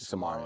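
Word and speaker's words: Samara Cyn: Samara.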